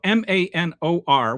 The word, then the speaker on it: Manor: So MANOR, which the rest of the civilized world calls manor, in Texas, it is pronounced Manor.